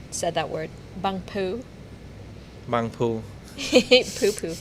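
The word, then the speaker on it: Bang Pu: Bang poo.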